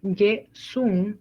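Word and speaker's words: 예순: Pasando al 60 es Ye-sun, aquí sí es sun, ¿ok? Ye-sun. 70 Il-hun. 80 Yo-dun. 90 A-hun, ¿ok? 60 Ye-sun.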